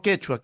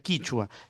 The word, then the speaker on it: quichua: su relación quichua, no quechua, quechua es en el Perú, por allá se pronuncia quichua, tiene mucho que ver con Bolivia, Bolivia también tiene esa pronunciación.